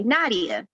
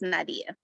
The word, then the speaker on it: Nadiyah: Well, my name's Nadiyah, and that's it's Nadiyah. I always like to point that out because most people, they say Nadiyah. It's Nadiyah. Wait, say it one more time, pronounce it one more time, because I was saying Nadiyah. Is it? Nadiyah. Okay. Yeah, like Aaliyah, it's Nadiyah.